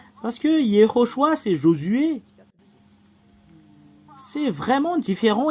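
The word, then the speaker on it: יְהוֹשֻׁעַ: Alors, le fait de prononcer ce terme, c'est Yehoshua.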